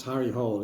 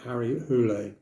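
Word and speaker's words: Harry Hole: this going Cliff that's not the way to pronounce Harry Hall it's Harry hulle at each each to their own so what's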